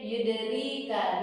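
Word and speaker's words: يدريك: Saudara koreksi sedikit, yudrika, di-nya kan ada ya nanti di situ, jadi bacanya 2 harokat.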